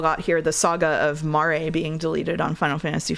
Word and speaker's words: Mare: Exclamation point Mare. That's how you pronounce it? Yes, it's like Mare Lamentorum. I always read it like a horse, mare.